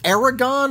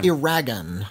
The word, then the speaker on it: Eragon: Is it Aragon or is it Eragon? Like, as in rhymes with dragon.